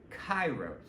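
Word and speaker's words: kairos: to l linear time and then you have chyros that's another word it's it's it would be spelled like k a i r oos chyros um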